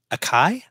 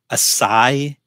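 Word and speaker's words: açaí: Acai? Acai? How do you say that? Acai, I think it is.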